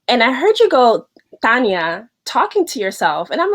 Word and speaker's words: Tanya: it's actually was interesting I pronounce my name Tanya Tanya but it's spelled with a Y but my mom loved